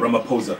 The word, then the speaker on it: Ramaphosa: You know, there's a really huge, fight between Cecil Ramaphosa and Ramaphosa. The H is silent.